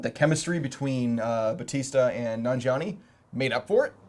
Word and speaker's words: Nanjiani: Nanjiani.